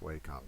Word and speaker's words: Wacom: at my wacom tablet I think it's actually pronounced Wacom we actually where I work we had training on Wacom tablets long ago okay and they kept correcting us said it was Wacom which I don't think